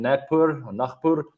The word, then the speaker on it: Nagpur: I think if I remember correctly, it was in Nagpur, as we would pronounce it over here in South Africa. We pronounce our G's like very weird, I know.